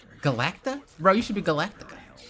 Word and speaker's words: Galacta: always come true cuz Galactica. Galactica. I always call her that. Um, what is her name? I always call her Galactica, but I think I added an extra syllable.